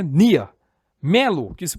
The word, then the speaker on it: Near: missa amani amani missa near que no caso se pronuncia Nia Melo que se pronuncia